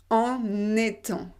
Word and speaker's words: en étant: Être en étant, en étant. En sachant, en ayant, en étant. En sachant, en ayant, en étant. En étant. Le N, il va dans la deuxième partie.